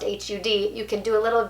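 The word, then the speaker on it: Har: listening to that mantra when you hear hud h-a-r pronounced hud you can do a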